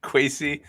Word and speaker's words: Kwesi: A lot of positive from people who know Kwesi rhymes with Casey. Kwesi.